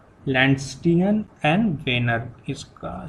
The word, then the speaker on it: Wiener: तो ये RH factor जो है, इट वॉज सबसे पहले डिस्कवर्ड बाय 2 साइंटिस्ट, उनका नाम था लैंडस्टियन एंड वेनर। इसका स्पेलिंग मैं लिख देता हूँ, EINER।